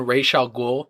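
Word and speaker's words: Ra's al Ghul: it but just the fact that they mention raal ghou pronounce it correctly first of all and uh Swamp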